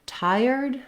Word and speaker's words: tired: unstressed we have the same syllable stress pattern in tired with the first syllable being stressed the Thai syllable again we have the dip Fong I just like we had in thyroid uh but the r